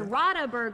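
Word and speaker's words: Radeberger: How so, do you pronounce that? Rodaburger? This is Rodaburger.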